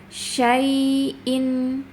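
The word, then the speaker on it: شَيْءٍ: Ya-nya harus dirokhwa dialirkan, tapi ada tekanan yang lembut ya. Dan harus ditegakkan, jangan digantung bacanya. Syai'in, syai'in. Kadang dibacanya itu syai'in, syai'in ya. Belum tegak, tapi harus ditegakkan dulu. Harus benar-benar sifatnya tertunaikan.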